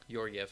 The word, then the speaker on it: Georgiev: I don't know how to pronounce his last name. Georgiev or Gorgiev? Yeah, Georgiev.